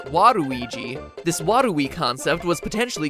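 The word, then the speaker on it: ワルイージ: of warui and luigi waluigi's name works even better in japan where his name is pronounced waruiji this wadui concept was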